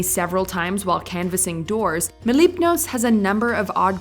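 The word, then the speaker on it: Mlepnos: armison hello hello what's your name my name mipos can you spell that please m l e p Clay did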